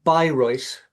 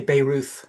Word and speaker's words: Bayreuth: Yeah, it's Bayreuth is the German pronunciation. If you're English, you might say Bayreuth, but it's Mm, Bayreuth in Bavaria.